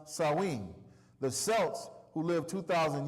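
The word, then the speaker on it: Samhain: ancient Celtic Festival of Sam hay pronounced sinen the Celts who lived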